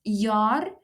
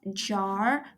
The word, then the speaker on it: jaar: It's jaar, not jar, because in Afrikaans the J is pronounced as a yuh.